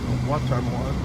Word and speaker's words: Watonwan: Watonwan. It's all where you put the accent on the right. The accent on the right syllable.